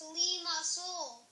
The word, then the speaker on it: Limassol: and this is say my name it's pronounced Limassol and that's also the name of my Capital